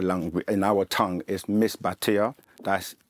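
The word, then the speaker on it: Misbatiya: known by many names um the way we pronounce it in our langu in our tongue is Miss batia that's m i s b a t i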